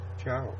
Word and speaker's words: ciao: You know, I could never understand why it's spelled C-I-A-O. You know, it's not like chow, you know, C-H-A-W. C-I-A-O is pronounced chow.